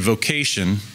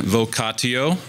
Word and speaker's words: vocatio: The Latin and German words for calling and vocation and call are the same. In Latin, vocatio. Actually, I should pronounce that vocatio. That'd be the classical way.